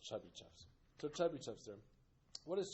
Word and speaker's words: Chebyshev: alphabet that we use, but it's pronounced Chebyshev's.